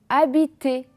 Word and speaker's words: habiter: On a encore le mot habiter.